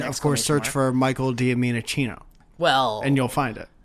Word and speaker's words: Giacchino: And also, I want to correct myself from episode 1 when I said Michael Giacchino. It's actually pronounced Giacchino.